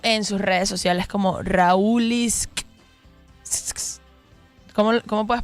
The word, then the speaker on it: Raulitxz: Se pronuncia Raulitz.